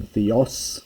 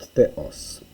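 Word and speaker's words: θέος: the first line here you're probably used to seeing Theos with the accent on the second syllable and here in this dialect you get Theos which um is different to attic so you're getting a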